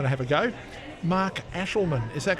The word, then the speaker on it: Aeschlimann: has a lot of fun getting people to pronounce correctly. I'm going to have a go. Mark Aeschlimann.